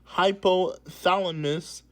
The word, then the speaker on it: hypothalamus: Adrenal fatigue is a stress related condition that occurs when your adrenal glands, uh, this word is pronounced hypothalamus okay, I said that right.